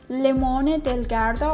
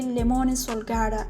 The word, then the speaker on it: Limone sul Garda: Well, the time I visited, I pronounced this town Limone del Garda or Limone di Garda, but it is actually Limone Sul Garda, a beautiful town actually where lemons blooms.